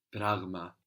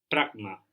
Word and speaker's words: πράγμα: So there we have the G from the throat, like in εγώ. Πράγμα. Πράγμα.